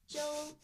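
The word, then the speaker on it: Zhou: Joe and Joe have I been saying his name wrong the whole time Joe XU Jo Jo Jo Jo I've been saying Xiao and it's Jo it's Z xishu because it's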